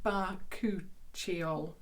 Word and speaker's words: Bakuchiol: And I'm going to see how they actually tell me how to pronounce it here. Bakuchiol. And it is the Bakuchiol serum for £10.